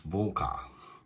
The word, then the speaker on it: Warka: This one, I think it's called Warka, because I've heard that in Poland they pronounce the W's as V's, so it's Warka.